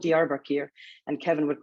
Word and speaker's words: Diyarbakir: It's called Diyarbakir, and Kevin would call it Yakabir all the time.